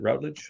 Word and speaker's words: Routledge: talk to miles routledge is that i pronounce it routledge yes mate absolutely and he i mean